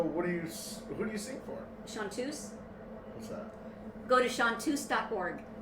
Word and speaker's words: chanteuses: CH. A-N-T-E-U-S-E-S. Looks like Chanteuses, but it's pronounced Chanteuse.